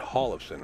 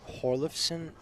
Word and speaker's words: Hjorleifson: do you notice gentlemen I pronounce it Hall of sin right yes yeah he's he's threatening to go up on it huh I think I think it's like hjorleifson a great player from